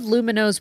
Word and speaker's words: Lumineux: I really enjoy using Lumino because, you know, my teeth, they just look great.